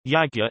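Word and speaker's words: यज्ञ: The Sanskrit yajna, modern Hindi pronunciation, yagya, is often translated as sacrifice, also offering, oblation, or more generically as worship.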